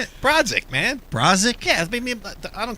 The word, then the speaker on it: Borodziuk: Borodziuk, man.